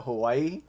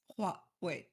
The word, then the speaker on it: Huawei: because I call it Hawaii. And Honestly, that's so um, many, like so many Hawaii, like I've heard Hawaii, like, yeah, it's, well, I think the right way to pronounce it is like Huawei.